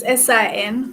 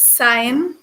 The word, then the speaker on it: sin: So we use SIN for sine. It's not pronounced sin. It's sine.